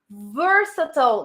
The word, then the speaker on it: versatile: Versatile. Guys, remember the pronunciation is versatile.